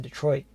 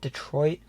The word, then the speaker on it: Detroit: The pronunciation of the city itself is a topic of debate. While most Americans tend to pronounce it Detroit, locals often say the name of the city as Detroit.